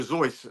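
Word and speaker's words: Seuss: Do you guys know Dr. Zeus or Dr. Zeus, as it should be pronounced?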